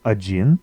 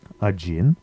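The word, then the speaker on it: один: to ten in Russian so first one is ajin ajin a gin is one there's also two other forms depending on which gender you're using so um odna I think is one feminine gender a Jin is masculine gender and adno is new to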